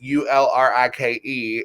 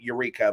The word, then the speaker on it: Ulrike: It's Ulrike in German, but I chose to spell it like the vacuum cleaner so Americans could pronounce it. But you announce it in American Eureka, but it's actually like Ulrike. So like you like roll the L and the R and like do the little, in there.